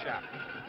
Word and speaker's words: Shap: And now to the safety man, Shap, it's pronounced Shapp.